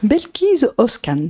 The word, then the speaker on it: Belkis Özkan: Belkis Özkan, c'est ça, je le prononce bien? Totalement.